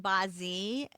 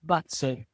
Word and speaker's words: BaZi: I had never heard of the term Bazi. Is that the correct pronunciation, Bazi? No, it's very wrong, but it's the way I do it. we, we should probably say Batsu, but I make no claim to pronounce Chinese well.